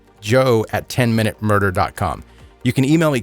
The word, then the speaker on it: Joe: future Joe at 10minute Joe has an e by the way it's a silent E Joe 10minute you can email